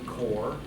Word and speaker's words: Corps: core short pork innovation core I guess quarters a group cadre it's a core silent be silent s that's important xicor we